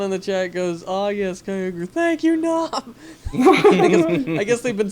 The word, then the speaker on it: Kyogre: If I recall correctly, I heard that Kyogre is supposed to be basically transliterated from Japanese for like giant orca, essentially, for Kyogre. No, Kyle would be like Sea King, really.